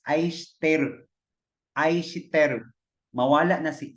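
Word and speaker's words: 愛してる: Pero pag makadungog ka sa ilaha, the way they pronounce is ai shiteru.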